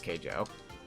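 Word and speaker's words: Keijo: oh yeah yeah K I said kaijo I'm sorry I haven't seen the anime in like several months you are correct it is K Jo I totally butchered the pronunciation there um but yeah it's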